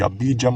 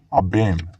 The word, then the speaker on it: Abijam: Ang tunay niyang pangalan ay Abem, hindi Abijam or Abiyam. Abem.